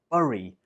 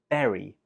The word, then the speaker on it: berry: The spelling in here looks like it should be pronounced bury, but it's not. We pronounce this word berry.